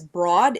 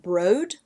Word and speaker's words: Broad: to say this as broad. It's b r o a d, but someone commented on my channel one time and said it's actually meant to be pronounced brode.